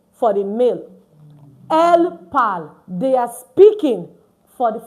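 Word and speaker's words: parlent: And for ill l which is a plural form for that's the il l pal not ill l palon. Please, we don't pronounce our entire French verb to what do we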